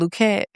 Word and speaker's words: Luckett: and also the Luquette paradigm or the Lucky paradigm. Freddy, I go by um both pronunciations of my last name now, Lucky and Luquette.